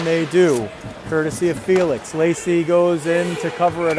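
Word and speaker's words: Laci: Lacey Nelson trying to beat Emma Lacey. Decidedly different spellings, pretty similar pronunciation. Lacey Nelson is L-A-C-I, Emma Lacey is L-A-C-Z.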